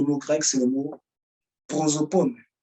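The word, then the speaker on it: πρόσωπον: un mot, le mot grec, c'est le mot prosopone. Prosopone. P-R-O-S-O-P-O-N. P-R-O-S-O-P-O-N. Bon, ça se prononce à la fin, il y a 2 points.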